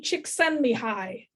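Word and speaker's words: Csikszentmihalyi: dr pat villeneuve at fsu was how to pronounce this guy's name because she made us practice it and his name is mahali chick send me high so don't ask me how i remembered that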